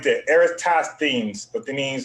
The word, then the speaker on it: Eratosthenes: You see the name right there, Eratosthenes, but that means how you gonna pronounce it? Eratosthenes.